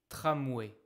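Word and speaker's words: tramway: Alors le tram, ça s'appelle le tramoué. Mais souvent quand on parle, on va dire le tram. Le tram, le tramoué, c'est pareil. Trame, tramoué.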